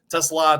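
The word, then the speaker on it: TeSlaa: Only thing is, I've listened to the kid say his own name a gajillion times. It sure sounds like he says Tesla to me, so that's what I'm going with.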